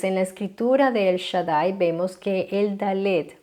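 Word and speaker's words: שדי: Ese punto indica que el Dalet va duplicado. A nosotros eso nos significa en la pronunciación doble D. O sea, que no sería el Shaddai, sería el Shaddai con doble Dalet o doble D.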